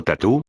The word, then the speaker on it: tattoo: De hecho, el término tatuaje tattoo en inglés, pronunciado tatú, tiene un origen polinesio.